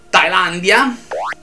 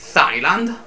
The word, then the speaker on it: Thailand: Per esempio, la parola Thailandia non è Thailand, quindi non c'è il TH, è Thailand.